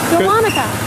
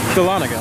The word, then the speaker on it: Dahlonega: How do you pronounce this ride? Dahlonega. Dahlonega. Dahlonega.